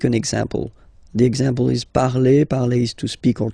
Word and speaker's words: parle: ending e, and then the way to pronounce it is je parle, parle. So remember, we put it, okay, but then we don't really pronounce it.